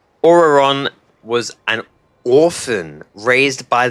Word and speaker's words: Ororon: Ororon. Okay, that's how you pronounce it.